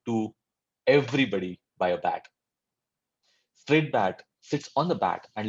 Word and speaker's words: str8bat: Today we are going to talk about the str8bat, str8bat, which is pronounced as str8bat.